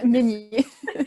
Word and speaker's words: Meignier: C'est comme ça qu'on prononce à la Suisse? Oui, Meignier. Meignier.